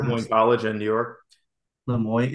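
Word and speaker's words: Le Moyne: Lemoyne. It's spelled M-O-I-S-E. Lemoyne, so like L-E space M-O-Y-N.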